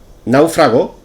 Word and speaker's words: náufrago: suelo no 44 náufrago náufrago es una palabra esdrújula y como tal debemos